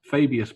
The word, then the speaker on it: Fabius: So War of the Spider, which will introduce the new Fabius, because that's how you say his name apparently, Fabius Bile.